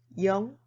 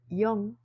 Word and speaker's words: 영: It's pronounced as either 0 or 0. In mathematics, 0 is used, and when appearing in telephone numbers, 0 is used.